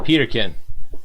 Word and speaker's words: Peterkin: Peterkin? Peterkin. Peterkin. I tried to put like some type of spin on it. It was as easy as it read.